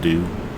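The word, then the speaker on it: Doux: I know it says D-O-U-X, but it's pronounced due.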